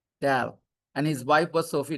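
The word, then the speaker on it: Dahl: H is silent. Dal and his wife was Sophie Dal.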